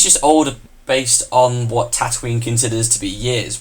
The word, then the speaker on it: Tatooine: or whatever is the same as here, whereas Tatooine, or I can never say it right, Tatooine.